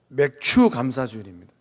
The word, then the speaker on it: 맥추감사주일: 우리는이 맥주 감사주일을 보내면서 발음을 정확하게 하셔야 돼요 맥추감사주일입니다 어떤 성도님의 남편이 참